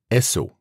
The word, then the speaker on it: Esso: Esso, prononciation des initiales S et O des mots Standard Oil.